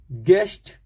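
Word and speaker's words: guest: जी यू ई यू के बाद ई गेस गेस्ट जी यू ई यू के बाद ई गेस्ट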